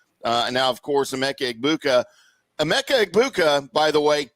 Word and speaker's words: Egbuka: And it's Egbuka. The G is silent. Okay, so just Egbuka. It's Egbuka.